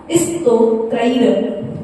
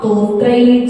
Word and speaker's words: स्तोत्रैः: अपन लोग यही बोलते ना, लेकिन है क्या, आधा साइलेंट सा है। यदि साइलेंट सा का उच्चारण करके आपसे नहीं बन रहा है तो आप उस छोटे सा की जगह पर आप तोत्रैः जगत् स्थितैः चित्ते हरे उधारे, ठीक है ना?